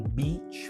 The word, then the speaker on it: beach: É a pronúncia do som do I, fonético, tá? Não escrito. Porque em beach você tem EA, CH. Então é o som do I. O inglês tem dois sons do I, um que é